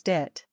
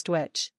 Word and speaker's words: duit: Depending on the region of Ireland, this word can also sometimes be pronounced as dit. Some speakers even add a w sound for a pronunciation that resembles dwitch.